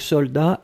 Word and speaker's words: soldat: Je regarde, vous l'avez bien écrit, attention save the best, soldat avec un T final, on ne prononce pas le T, mais logiquement il devrait être là, d'accord? Donc soldat, S-O-L-D-A-T.